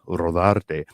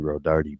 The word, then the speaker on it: Rodarte: to my father because that is really how the name is supposed to be pronounced rather than Rodardi.